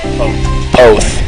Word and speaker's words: Poth: P-O-T-H. Poth. Poth is correct.